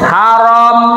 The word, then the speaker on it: haram: Haram. Ndak harum dah. Haram. Haram itu kan agak kasar sih Pak ya. Haram. Bacanya haram.